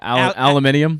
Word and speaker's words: aluminium: Yeah, aluminium.